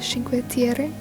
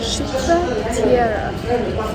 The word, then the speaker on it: Cinque Terre: I've been pronouncing it wrong. It's pronounced Cinque Terre. So not Cinque Terre. How you say it in Italian is Cinque Terre.